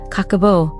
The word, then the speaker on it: Kakeibo: Nearly a century ago, the word kikibbo, pronounced kakabo, roughly translates to household financial ledger.